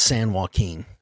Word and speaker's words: San Joaquin: We got to work on the way you pronounce California towns. Why? It's San Joaquin.